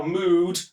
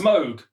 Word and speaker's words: Moog: just says MO cow mood no a cow mowed mode that's different for cows in music if you see Moog spelled like this it's pronounced Moog not moo so even if it's